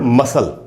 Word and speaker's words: muscle: लोग अपनी एक्सरसाइज करके, MUSCLE, S और C एक साथ है तो C साइलेंट है। मसल, C का उच्चारण तो हो नहीं रहा, S का उच्चारण हो रहा है, मसल।